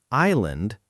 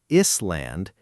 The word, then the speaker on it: island: And island, the s is silent there. It's not is-land, it's simply island.